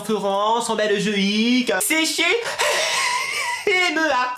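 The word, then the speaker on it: Hema: MEA. Il y a un H avant, faut bien le prononcer. MEA. À toi? Emma.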